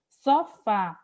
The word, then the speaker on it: sofá: Se eu fosse aqui separar, sofá, o fá, a última sílaba, a sílaba tônica da palavra, é uma sílaba que eu vou classificar como oxítona.